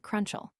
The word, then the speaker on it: Crowninshield: The English /Crowninshields pronounce every syllable of their name. The American /Crowninshields commonly make it Crunchall.